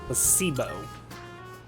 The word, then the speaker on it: placebo: to our vocabulary today repeat after me placeo the stress is on the middle syll Placebo very good you're figing interest well